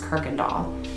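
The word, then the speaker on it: Kuykendahl: that's where it derived from but it is pronounced kirkendall the next one is going to be humble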